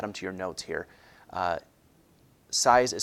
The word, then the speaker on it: Sieyès: Sieyès is spelled S-I-E-Y-E-S.